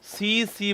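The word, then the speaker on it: tsetse: हिंदी में बोलते हैं सी सी मक्खी जो है वो इसका रोग वाहक है या फिर इसको ऐसे लिखते हैं हम आपके टी साइलेंट है यहां पर तो टी सी आपके सीसी फ्लाई जो है वो इसका रोग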